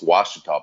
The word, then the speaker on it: Ouachita: It's Ouachita Parish. When you read the story about this amoeba, it's spelled with an O, but it's pronounced with a W because it's a native tribe.